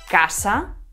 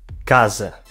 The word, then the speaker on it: casa: Bueno, y en la siguiente, atentos a la S, porque una S es sonora y la otra es sorda. Casa. Casa. Casa.